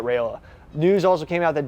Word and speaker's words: Raiola: Shedeur mispronounced Roll's name. He said like Roll, not Rayola.